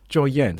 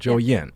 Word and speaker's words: 周燕: So ‘Zhou Yan’, but how do you say it with the tones? ZY: 周燕 . OF: 周燕 , so it’s 1st tone, 4th zone. ZY: Yeah OF: 周燕 , OK.